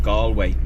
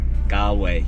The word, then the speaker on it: Galway: that we're going to is a place called gallway or if you watch uh tourists Vlogs it's they pronounce it gway gway to be honest with you we feel